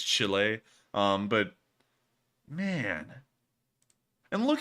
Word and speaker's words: Chile: I'm trying to make sure I pronounce that correctly because Chile is not the way you say it. It's Chile.